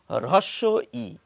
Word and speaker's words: হ্রস্ব-ই: যেটি আমরা সকলে জানি তাহলে এই নামের প্রমিত উচ্চারণ বা মান্যচলিত বাংলায় যেটি বলা উচিত সেটি হচ্ছে রস ই যেটি আমরা অনেকে বলি